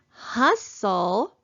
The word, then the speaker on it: hustle: at our next word in the word hustle we have our final stable syllable t-l-e so we're gonna cross out the e because it is silent and listen carefully hustle do we hear the letter t no we don't it's silent also so we're gonna cross